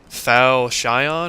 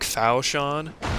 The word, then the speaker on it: falchion: But I think it's actually pronounced like Falchion or like Falchion or something. I got that the CH is supposed to be a sh sound instead of the ch sound, like the softer one.